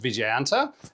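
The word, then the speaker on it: Vijayanta: Uh the name the Vicas MBT or Viganta, which I looked up and is pronounced Viganta and but I'm sure I'll still get it wrong.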